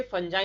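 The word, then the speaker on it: fungi: साथ साथ ये फंजाई में भी नहीं होते। फंजाई, फंगाई जो भी बोल लीजिए आप लोग, फंगी भी बोल लीजिए, कोई भी दिक्कत नहीं है, अलग अलग प्रोनाउंसिएशन है खाली।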